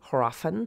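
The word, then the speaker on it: hræfn: it for you because in old english there would have been an h and that h would have been pronounced then but today we would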